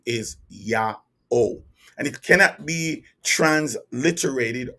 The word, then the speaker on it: YA'OH: have his name and his true name is yaho yaho y a apostrophe o h now the spelling of the name is the pronunciation of the name that's what's most important is the pronunciation his name is yaho and it cannot be transliterated or trans uh